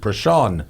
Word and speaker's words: Prashant: I mispronounced this poor guy's name like 6 times in a row because it's not spelled. Prashant, thank you, Panicker.